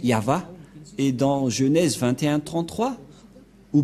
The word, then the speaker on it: Yahvah: au milieu Yod V c'est l'alphabet hébreu qui est prononcé yava et dans Genèse 2133